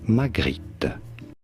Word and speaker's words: Magritte: For reference in French, this is said as René Magritte.